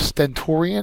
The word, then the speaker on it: stentorian: flashy we have stentorian is next that's an adjective the second syllable is accented it means extremely loud